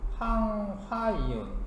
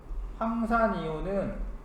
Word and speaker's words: 황화이온: 얘는 황산이온이라고 읽는 게 아니라 황화이온. 화자가 들어갑니다. 황화이온. 황산이온은 SO4 이가 마이너스 이것도